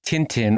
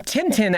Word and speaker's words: Tintin: hanging so it's it's a nasal end okay I've said it wrong for decades well my apologies to all of Belgium. Um, so, uh, anyway, so in Tintin and and in a